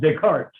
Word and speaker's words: Descartes: And it's pronounced Descartes. Yeah, René Descartes. Yeah, René. No S's. The S is not pronounced.